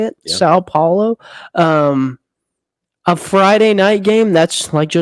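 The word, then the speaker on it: São Paulo: They're playing in Sao Paulo. I think Brazil. that's how you say it. Yeah. Sao Paulo.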